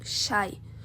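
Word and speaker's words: شيء: ser resolvido em árabe a palavra coisa é pronunciada como shai daí surge o nosso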